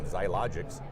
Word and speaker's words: Xiologix: My special guest is Sid Herron from Xiologix. And did I pronounce that yes, you did. properly? All right, Xiologix.